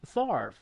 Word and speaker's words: Favre: I definitely am familiar with Favre or Farva, which how was it pronounced? Favre.